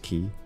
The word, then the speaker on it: quay: Quay is pronounced key.